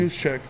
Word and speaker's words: Juszczyk: Juszczyk. You're great with the pronunciation, by the way, my friend.